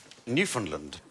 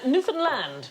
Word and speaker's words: Newfoundland: Newfoundland. No. I'm going to have to shoot you now. No, it isn't the correct pronunciation. Newfoundland. Hey, enough violence on this show. Yeah. Newfoundland is the correct pronunciation, and in 1876 a